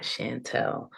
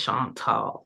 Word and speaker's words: Chantal: call me because a lot of people have a hard time pronouncing Chantal, Chantal, not Sean Paul, not Chanel, not Chantel. Okay, it's Chantal.